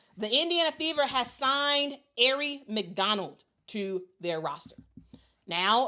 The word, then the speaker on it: Aari: announced the signing of Ary McDonald. And I'm so happy they put the pronouncer here. It's Ary Air Ary McDonald via emergency hardship exception.